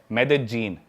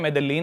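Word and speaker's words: Medellín: Colombia एक country है south America continent में, उसकी एक सिटी है मेदेजीन। स्पेलिंग में उसमें डबल एल आता है, मेदेलीन होता है, लेकिन कोलंबियन स्पेनिश में ल को ज बोलते हैं, तो मेदेजीन वो शायद उसकी मेन सिटी है ना उस कंट्री।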